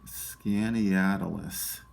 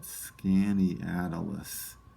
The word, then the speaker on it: Skaneateles: Let me see if I can pronounce this one. It's Skaneateles. I think that's how you say it. Skaneateles.